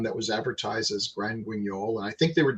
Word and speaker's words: Guignol: For the most of it, I guess it was really like watching is it pronounced Grand Guignol? Guignol.